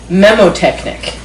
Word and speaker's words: mnemotechnic: So the N is silent. So it's memotechnic.